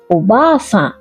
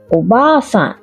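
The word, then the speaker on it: おばあさん: দিদা হলেন ওবা-সান ওবা-সান। দাদু দিদার ক্ষেত্রে জি আর বা দীর্ঘ উচ্চারণ হবে, বলার সময় খেয়াল রাখবেন।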